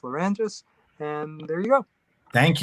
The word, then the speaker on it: Lerangis: Nobody else has this name in the world, but it's Peter Lerangis, Lerangis, and it's pronounced Lerangis.